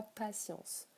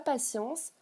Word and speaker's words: patience: Et dans science, même si ça s'écrit T-I-E-N-C-E, on le prononce, le mot, comme celui de la science, avec un S. Ça prend la même sonorité. Donc la patience, si tu m'as bien